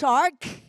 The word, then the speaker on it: shark: บ้าน นะ ลูก นะ ออก เสียง ใหม่ ลูก shark เี้ shark เก่ง มาก ค่ะ ดัง นั้น เด็ก